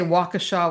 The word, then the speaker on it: Waukesha: I say Waukesha, Wisconsin.